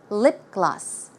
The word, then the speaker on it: lip gloss: it's not CC sound there is no C or k it's a G so the pronunciation should be G gloss lip gloss lip gloss and one